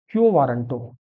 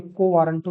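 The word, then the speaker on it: quo warranto: The last one इज क्यो वारंटो। कई लोग इसे को वारंटो भी प्रोनाउंस करते हैं, तो इट्स अप टू यू।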